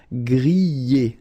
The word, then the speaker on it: griller: Okay, remember er, because these are verbs here. Griller, pocher, éplucher. Okay, you pronounce them A. Okay, even if you've got this R. Okay, this combination of two letters, R at the end, will give you the sound E.